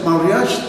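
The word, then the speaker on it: mariage: y la y los franceses se referían a la palabra boda o matrimonio que se pronuncia mariag precisamente.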